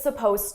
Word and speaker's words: supposed: It's supposed to. Now, notice here, supposed to suppose it's spelled with an Ed. It's an Ed verb, but you don't hear it at all.